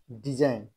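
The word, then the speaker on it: design: আই জি এন সাইন ডি ই এস আই জি এন ডিজাইন এটা কিন্তু জি উচ্চারিত হচ্ছে না আর ই এস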